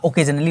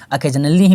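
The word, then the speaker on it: occasionally: आपको अकेजनली नहीं होता, ओकेजनली होता, नहीं अकेजनली ही पढ़ा जाता है, प्रोनाउंसिएशन इसका अकेजनली होता है।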